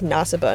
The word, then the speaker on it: Nasiba: You just kind of pronounce it like you're trying to say my name, Natalie, where you put the emphasis on the end of the word. Nasiba?